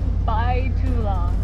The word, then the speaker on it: Bai Tu Long: and check did I still mess up the pronunciation Court by to long okay sorry guys we're heading into by to